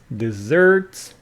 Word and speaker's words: dessert: delicious homemade food and desserts stress on the second syllable desert d s e